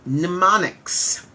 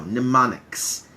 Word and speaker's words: mnemonics: There's something that we call in English, we call it mnemonics. I'll spell it for you because it has a very strange spelling. Here we go. Mnemonics.